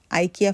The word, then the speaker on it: IKEA: এমন কিছু নেই যে পাওয়া যায় না আমরা আইকিয়া ফ্যামিলি আমাদের বাসার সবকিছুই এখান থেকে নেওয়া চামচ